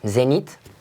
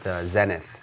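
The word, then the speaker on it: Zenith: one I'm in a Zenit we won't we won't pronounce the H for us yeah I'm pretty pretty much as an American we we like to call it zennith so okay what you're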